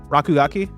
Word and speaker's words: Rakugaki: RC GK the game I was talking about pronounce Raku gaku rakugaki yeah it's like aat platforming action game with